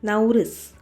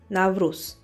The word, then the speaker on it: Nooruz: and night is equal no ruse is pronounced differently in different central asian countries for example in kazakhstan it is pronounced as naurus in tajikistan and afghanistan navruz let's have a look